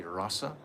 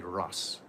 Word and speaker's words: rasa: Swami by the way sometimes it's called we say rasa and sometimes we say Russ you can say either way either way pronounce it